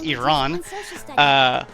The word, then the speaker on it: Iran: It's not Iran, it's Iran.